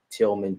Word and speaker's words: Tilghman: my name m-a-r-l-o-n tillman t i l g h m a n unique way of spelling it and you can find